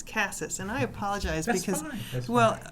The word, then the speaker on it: Cassis: with Glenn Cassis and it's not Cassis it's Cassis and I apologize because